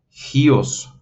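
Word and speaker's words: υἱός: Gios, porque recuerden que este es diptongo y se pronuncia como I. La U pierde su sonido porque el diptongo se indica que está en la segunda vocal. Recuerden, si el espíritu estuviera aquí, en la primera, tendría un sonido distinto, pero como está sobre la I, significa que estas dos forman un diptongo y ese diptongo es I, por lo tanto, ustedes tendrían que pronunciar Gios.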